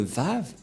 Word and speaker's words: vav: donc le la lettre vave voilà la lettre vave vave et la prononciation c'est V as invog c'est-à-dire que c'est V la bonne le bon la bonne